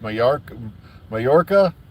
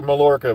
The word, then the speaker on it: Mallorca: But like I said, there's no news to report other than, they're going to, I think someone said it's pronounced Mallorca. It looks like Mallorca, but it's spelled Mallorca, Spain, to do some filming for War Between the Land and the Sea.